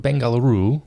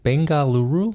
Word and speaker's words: Bengaluru: next weekend word Camp bangaluru Bengaluru I think I think that's how you say it it's July 21st one day camp uh it starts at I believe 9:00 a.m.